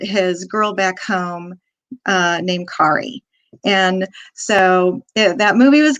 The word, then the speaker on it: Kari: that you know that the proper pronunciation of my name is Kari. And I'll help you remember. See, it's a very common mistake. A lot of people call me Carrie.